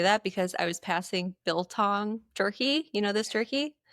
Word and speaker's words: biltong: It's so funny that you say that because I was passing biltong jerky.